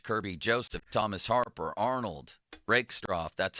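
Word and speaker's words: Rakestraw: Uh their secondary, Brian Branch, Kirby Joseph, Thomas Harper, Arnold, Rickstro, that's how you say his name.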